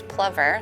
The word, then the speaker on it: plover: i think the biologists are saying the correct pronunciation is plover so our snowy plovers have been kind of